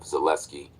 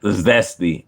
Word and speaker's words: Zelensky: a heated argument with Zelensky over various issues. And it brought a fight. It's not Zelensky, it's Zelensky.